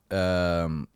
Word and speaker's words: Dag: So it took me like 5 years to remember the spelling, but and then dog, not DOG like the animal, but DAG.